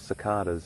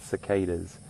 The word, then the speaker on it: cicadas: That, or they, are an insect called cicadas, or some people pronounce it cicadas.